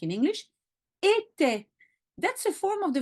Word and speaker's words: était: Here it's in the plural, but you always pronounce était, even if the ENT is not at the end.